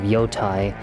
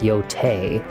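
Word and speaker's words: Yōtei: games like the second part of Ghost of Yotai. I know that you guys are saying out there it's pronounced Yotei.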